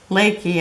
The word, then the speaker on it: Leckie: And it's by Amanda Leaky, I think is how you pronounce it. It's L E C K I E.